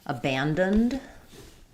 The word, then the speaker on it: abandoned: We have second syllable stress. So my first letter A is going to be the unstressed schwa.